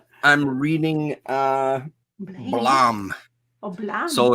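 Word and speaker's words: Blame!: reading uh blame blam blam so it's it's spelled blame but apparently it's pronounced blam so yeah that's so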